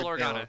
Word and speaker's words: Bail Organa: It's spelt Baal, but I don't think it's pronounced Bail. like that. Bail Bail Organa. Organa. Yeah. Yep. It is pronounced Baal? It's Okay. Bail. Yes. Yeah. So, put in Antony's custody by order of Bail Organa near the end of Revenge of the Sith